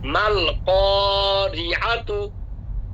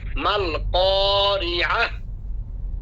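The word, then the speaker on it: ما القارعة: এরপরে মাল ক্বারিআতু, মাল ক্বারিআতু, ওয়াকফ হলে মাল ক্বারিআহ, মাল ক্বারিআহ। বলছিলাম যে গোল তাহলে কি হবে, হা হয়ে যাবে, তো ওয়াকফ হবে মাল ক্বারিআহ।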